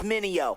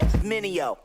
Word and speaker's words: Mineo: Trying to say my name, it's Mineo. Say it with me, Mineo.